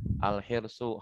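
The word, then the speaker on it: الحرصُ: Nah, jadi bacanya harus al-hirsu, harus bacanya dhammah.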